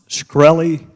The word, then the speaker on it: Shkreli: chairman is it pronounced Corelli yes sir see there you can't